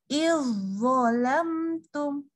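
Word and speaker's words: إذ ظلمتم: Nah, kan awalnya iz tipis. Nah, tapi dia ketemu zo, maka dia langsung lebur sempurna. Jadi langsung dia bacanya jadi ke huruf zo. Langsung tebal. Izzolamtum.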